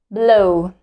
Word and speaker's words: blow: W is silent here, and we just pronounce the first vowel. Blow, blow, blow.